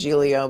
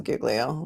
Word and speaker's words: Giglio: had that name but she pronounced it Julio but I think it is Giglio let's see where chorus